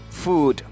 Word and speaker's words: food: f OU OU d some of us pray we pronounce this word as foot but it is not foot it is food what it is food